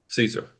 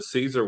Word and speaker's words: Caesar: Yeah, actually just on the on the Caesar one, the original uh pronunciation was with a K sound.